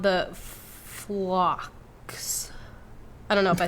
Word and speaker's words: phlox: that's going to pop up everywhere called the phlox. I don't know if I said that right. It's PHLOX. I am horrible at pronouncing things.